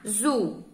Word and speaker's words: azul: a segunda palavrinha a Azul a Azul Esse é o l que tem som de u né Azul mas ele fala azul é bem rapidinho a